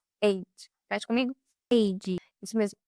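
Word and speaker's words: עד: Então, a origem da palavra no hebraico, a origem da palavra testemunha, vou deixar aqui a palavra, mas se pronuncia eid, eid.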